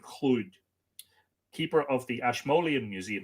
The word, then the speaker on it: Llwyd: Edward, I'm not entirely sure about my pronunciation of Lhwyd, but I'm led to believe it's Edward Llwyd, keeper of the Ashmolean